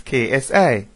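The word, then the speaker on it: xi: so that symbol is the common Greek letter as we would pronounce KSI a Venn diagram shows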